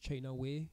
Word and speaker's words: China White: On the island, like, you find out that China White, which is actually pronounced China Way, like, I didn't really know until I watched the show, so it's something that the show has educated me on, is basically, it is essentially Lian Yu.